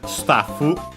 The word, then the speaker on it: スタッフ: The axe, notice the doubling of the consonant for the staffu. Unlike English, well, technically in English it's written with 2 Fs, but of course it's not pronounced as such. In Japanese, actually, it is.